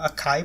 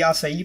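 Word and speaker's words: açaí: say palms and the I didn't know they were pronounced that way I thought they were a KY palms but yeah anyways today the acai palms use two of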